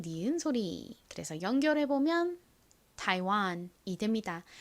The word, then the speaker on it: Taiwan: 그래서 연결해 보면 타이완이 됩니다. 타이완. 타이완은 어떤 나라일까요? 대만을 의미하는 단어입니다.